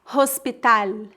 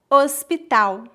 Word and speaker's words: hospital: Lembre-se que o H é completamente mudo no português e que o L tem som de U em final de palavras. Portanto, não dizemos hospital, e sim hospital.